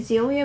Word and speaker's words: Xylia: making a tutorial on the zelia bracelets by Emerald looms and that's how she told me to pronounce it so this is her